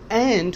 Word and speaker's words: and: and or ये जब बीच में आते हैं तो and हो जाता है नून का साउंड। ham and eggs, ये कनेक्ट हो गया, डी साइलेंट है तो ई इसके साथ एन के साथ मिल गया, जो आपने फर्स्ट सेशन में पढ़ा था।